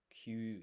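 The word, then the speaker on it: きゅ: So, it's not ki and yu, it's kyu. It's a blended sound.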